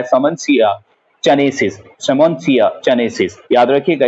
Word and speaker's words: Simmondsia: इसकी स्पेलिंग अगर आप बुक में देखेंगे तो लिखा हुआ होगा SIMMONDSIA, लेकिन इस डी को साइलेंट किया जाता है और हम पढ़ते हैं सेमोन्सिया चनेसिस।